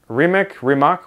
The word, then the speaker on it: Rimac: Hey, how do you pronounce that? Rimac, what is it?